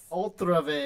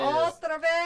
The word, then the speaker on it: otra vez: Ultra vez. Otra vez.